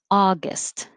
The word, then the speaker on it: August: you can't uh 32 august i know it's spelled a you but it's just ah awesome august august 33 patriotic patriotic